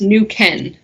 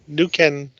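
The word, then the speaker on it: Neuquén: totality yep let's see it's pronounced new ken nuken province yep in argentina yeah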